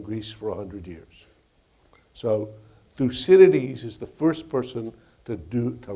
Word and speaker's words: Thucydides: So in unison, 1, 2, 3, we're going to say, 1, 2, 3, Thucydides. One more time, Thucydides.